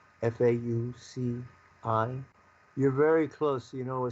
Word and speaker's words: Fauci: And do you think that Trump was being fooled by Fauci and by the World Health Organization, and he was used like a pawn in a sense?